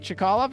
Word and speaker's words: Chkalov: how to pronounce to names you could easily pronounce, especially the Russian and the German ships. Chkalov. I think that's right. Chkalov is right.